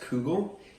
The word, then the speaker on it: kugel: So it's pronounced kugel, and it's a Yiddish word for German, which means sphere, and it's because it has a German background.